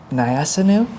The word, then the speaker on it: Nyassinu: Joining us today, we have a close friend of mine, Nyassinu is how you pronounce it? Nyassinu, real name, right?